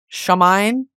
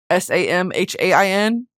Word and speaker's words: Samhain: In ancient I'm going to mispronounce this and I'm sorry. It's the Irish word for the festival Samhain s a m h a i n Samhain festivals bats would swoop over blazing fires to eat the mosquitoes.